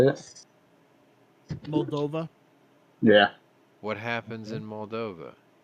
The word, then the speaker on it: Moldova: catch it come on how you say it Moldova yeah what happens in Moldova the right thing